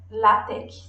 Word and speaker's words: LaTeX: E aí, pesquisando, eu descobri que, na verdade, o X, que está no final, ele não é um X, ele é a letra grega aqui. E, portanto, a gente lê LaTeX, seria o jeito certo de pronunciar, tá?